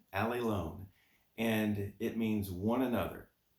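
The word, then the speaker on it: ἀλλήλων: the vocabulary words that stuck with me is pronounced Ali loan Ali loan and it means one another one another also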